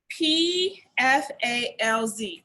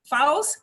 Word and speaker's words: Pfalz: It's spelled P-F-A-L-Z. Pfalz, do you not say the P, Pfalz?